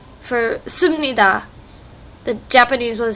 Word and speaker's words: 십니다: Like, she always says simunida. It should be simnida, but she can't say it.